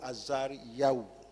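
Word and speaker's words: עזריהו: Le français dit Azaria, mais en hébreu ça se prononce Azaria ou Azariyahu.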